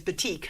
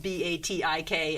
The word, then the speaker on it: batik: fabric so that's very exciting oh wonderful the pronunciation by the way is batik i know that's a strange word b-a-t-i-k and again you pronounce it a little a